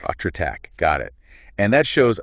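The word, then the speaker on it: حضرتك: It's pronounced hatratak. Atratak, got it.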